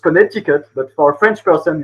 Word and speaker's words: Connecticut: ruined the day and taught me that it's pronounced Connecticut but for a French person it's still funny.